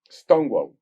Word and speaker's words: Stonewall: Stonewall. Así se pronuncia.